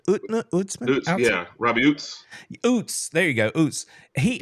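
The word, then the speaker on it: Ouzts: end how do you say his name UTS utzman utman yeah Robbie UTS OOTS there you go OOTS he um I heard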